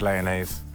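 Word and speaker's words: Lyonnaise: So, if I'm truthful, let's go with Leonnaise. Leon. Yeah, it rhymes with mayonnaise.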